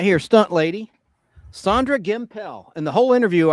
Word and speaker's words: Gimpel: stunt lady Sandre Gimpel. In the whole interview, I mispronounced her name. I called her Gimple, like Pimple.